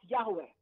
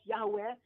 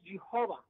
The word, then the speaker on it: Yahweh: Most likely the name should be pronounced as Yahweh, but it should not be pronounced as Jehovah. It's not the right pronunciation. It's wrong.